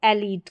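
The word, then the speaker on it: elite: Machine और यह है पिज़्ज़ा, मरीन, और इसको एलीट करके पढ़ेंगे, एलीट।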